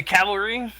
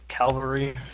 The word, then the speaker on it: cavalry: and where uh the Cavalry because they will be able to move faster not the calvary Cal I don't even